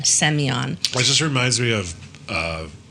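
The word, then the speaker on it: Semyon: Seion. Spell that. S M Y O N. Almost like Simon. It's like their version of Simon. S E M Y O N. Seion.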